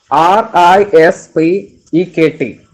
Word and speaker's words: respect: Next the next word is respect, and it's pronounced as respect. RISPEKT. So first of all, write the word R. It's the spelling of the word RESPECT, and we pronounce it as RISPEKT.